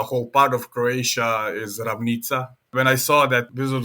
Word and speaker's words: Ravnica: So Ravnica would be pronounced in Croatian Ravnica.